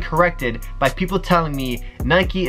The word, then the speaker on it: Nike: by people telling me Nike is pronounced Nike because bike is pronounced bike so bike Naik same thing on my question for